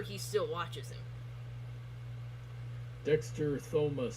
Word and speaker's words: Thomas: still watches him dexter thomas says you don't pronounce the h in my name well then why is